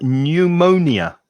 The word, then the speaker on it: pneumonia: and the last one pneumonia pneumonia pneumonia exactly the same stress pattern as psychology pneumonia four syllables pneumonia all these are